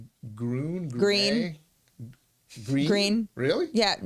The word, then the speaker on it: Gruene: Yeah, the X is silent. Gruene. Gruene. Green.